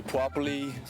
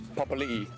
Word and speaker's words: Papali'i: Some people say Puapali, Pepalai, Pepali, Paipaili. I get a lot of weird ones, but it's Papali'i.